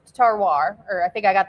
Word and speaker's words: terroir: even wine connoisseurs because terroir is real, which is a French word. Yeah, so when you talk about terroir, why don't you explain that for us tonight? So it's pronounced terroir, or I think I got that pretty close.